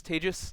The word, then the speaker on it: Tejas: My name is Tejas. That's pronounced like contagious for those of you who have a little bit of trouble with this exotic Indian name.